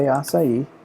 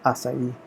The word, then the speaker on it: açaí: it's trying to take the way açaí that is how you say the fruit by the way acai I spent two years